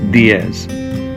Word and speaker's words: diez: three is pronounced trace the ten is pronounced Diez so let's say